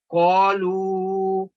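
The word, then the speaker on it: قَالُوا: پھر یہ دیکھیں کہ بعض الفاظ کے آخر پر الف بغیر کسی حرکت کے ہوتا ہے لیکن تلفظ کی ادائیگی میں اس کو ادا نہیں کیا جاتا. یہ دیکھیں قالو، یہ صرف لکھائی میں آتا ہے اینڈ پہ اس کو سٹاپ کرنے کے لیے، لیکن آپ نے اس کو تلفظ میں ادا نہیں کرنا.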